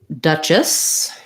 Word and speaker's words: duchess: Duchess has first syllable stress. It has that stressed schwa sound. And then the CH says the ch sound. We see that in the dictionary as a t and a sh together.